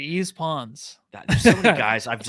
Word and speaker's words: Yves Pons: Yves Pons. Yeah, I was gonna say Yves Pons.